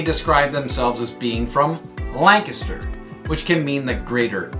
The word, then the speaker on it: Lancaster: when you read it or hear about other Lancasters around the country. It's pronounced Lancaster, not Lancaster.